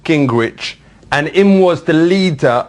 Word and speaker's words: Gingrich: And then Gingrich. For real, how does this spell that?